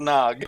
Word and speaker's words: Gnog: Gnog, I think is how you say the name, or Nog, is a 3D puzzle game set in a tactile world of toys and secrets. Point, Pretty click, Pretty sure grab, it's Nog.